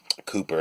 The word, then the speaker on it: Cowper: lamb and horace walpole Cowper cooper actually in the pronunciation i found out recently poet co WP ER but pronounced cooper apparently and Keats Edward Fitzgerald